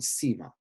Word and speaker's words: Sima: Like the third letter of the English alphabet, it looks like a C, spelled Sima. But it is never pronounced like a C, it's always a S.